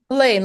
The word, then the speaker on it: Helene: fundraising for project that Helene. I'm never sure how to say your name. Oh, everybody pronounces it differently, but my parents called me Helene, like in Miss Hellenius.